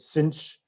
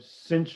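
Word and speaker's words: sinh: hyperbolic sine hyperbolic cosine i will pronounce it cinch and kosh i know different instructors don't do that but i like to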